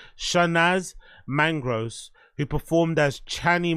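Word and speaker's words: Chanaaz: sh sh shanaz yeah it's c h a n a a a z shanaz mangr who performed as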